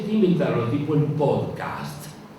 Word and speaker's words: podcast: inventaron el tipo el podcast pod cast hay que pronunciarlo así podcast Qué es es un